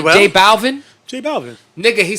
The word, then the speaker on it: J Balvin: Like, yo, that nigga Nori can't pronounce this nigga's name. What's J Balvin? J Balvin. Nigga, he says J Alvin.